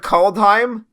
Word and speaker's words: Kaldheim: It was the word Kaldheim, and called sounds like the word cold, and cold means snow.